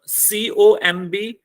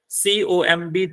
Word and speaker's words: comb: COMB, TOMB. अब आपको ये दोनों शब्द देखने को सेम लग रहे हैं. COMB, TOMB.